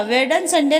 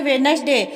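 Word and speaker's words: Wednesday: बेटी मन्नू से पूछा वेदन संडे नहीं भाभी वेडनेसडे पहले वाला दी साइलेंट है इंग्लिश ठीक से बोलिए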